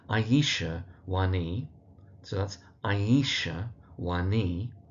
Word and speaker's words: Wani: So that's Aisha Wani. And the emphasis really on the knee part of the surname.